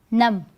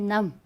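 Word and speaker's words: numb: in the same way we have other word num i went num i was so nervous or you can say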